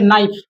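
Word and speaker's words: knife: ठीक है, यहाँ पढ़े नाइफ। क्या पढ़ दिए, नाइफ। नाइफ में क्या लगा दिए तो क्या मेरा साइलेंट हो जाएगा।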